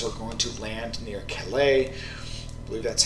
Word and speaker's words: Calais: and American forces were going to land near Calais that's how it's pronounced at the lowest part the English Channel